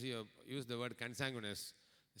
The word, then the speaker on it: consanguineous: So, always try to pronounce it as consanguineous, then you will not miss the E.